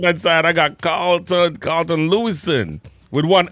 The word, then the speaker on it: Louison: side, I got CARLTON LOUISON with one S. Yeah, one S. Yeah. It's like it's really a French name. It's LOUISON. Yeah. All right. That's how we pronounce it.